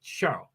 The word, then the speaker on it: Charles: And that's how you say Charles in French. You say Charles.